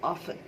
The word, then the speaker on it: often: This word is नॉट ऑफ्टन, द टी is totally silent, it's only ऑफन.